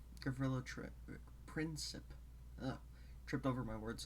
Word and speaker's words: Gavrilo Princip: I, for the pronunciation, I looked up the Slavic transcription of the name. And that's why I pronounce it Gavrilo Princip.